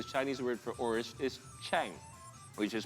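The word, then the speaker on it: 橙: This is because the Chinese word for orange is chang, which is pronounced the same as the Chinese word for success.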